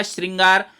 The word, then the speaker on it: श्रृंगार: ये जो लिखा दिखाई दे रहा है आपको, ये रे है, रेफ है। अब रेफ आप लगा देते तो री का उच्चारण नहीं होता, तो हमको री का उच्चारण ही करना है, तो शब्द होगा श्रृंगार। उसके साथ रेफ नहीं होगा।